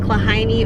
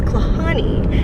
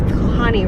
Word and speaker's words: Klahhane: did also let us know that it's not pronounced claw heinie or claw Haney it's Connie so correcting myself here that it's Connie Ridge and that's what we hiked yesterday I